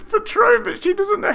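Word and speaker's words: Patrón: please the script says patron but she doesn't know how to pronounce patron right because it's not as as it's spelt it's not phonetic but he he knew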